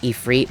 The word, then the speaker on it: Ifrit: And first things first, I know that it's actually pronounced Ifrit, but fuck you. I've pronounced it Ifrit for literally years, so I'm not changing it anytime soon.